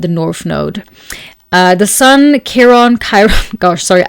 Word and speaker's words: Chiron: The Sun, Chiron, gosh, sorry, I sometimes never know how to fully pronounce that, so I interject between like Chiron and Chiron. I guess Chiron is like the correct way to say it in English, at least. So yes, in German we would say Chiron.